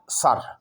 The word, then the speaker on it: sir: आवाज़ दिया करता है, लेकिन जब आर से पहले आई लिखा हो तो ये आई अपने से पहले लेटर पर ज़बर जैसी आवाज़ पैदा कर दिया करता है, जैसे SIR सर, SIR सर, एस को ज़बर के साथ हम पढ़ा करते हैं, लेकिन BIT बिट और